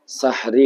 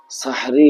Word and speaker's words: সাহরি: খাওয়া হয় যে খাবারকে সাহরি বলে সাহরুন শব্দের অর্থ হলো ভোরের খাবার শেষ রাত্রের খাবার সাহরি শব্দের উচ্চারণটা হলো সিনের উপরে জবর দিয়ে হা করে সাকিন সাহরি আমাদের দেশে প্রচলন আছে সেহেরি অথবা সেহেরি যাই হোক সেহরি শব্দের